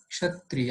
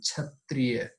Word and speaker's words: क्षत्रिय: पूरा क्षत्रिय है है लेकिन कुछ लोग हिंदी में जब किसी शब्द को पड़ते हैं तो उसको उच्चारण करते हैं छत्रिय जवाब छत्रिय पढेंगे तब आप इसके साथ उच्चारण में आप सही नहीं है तो हमें ऐसा ऐसा